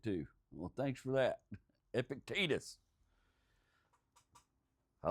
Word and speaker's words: Epictetus: I found out that Epic the word I can't say is pronounced Epictitus. Well, that's good to know. I read it myself being a North Carolinian.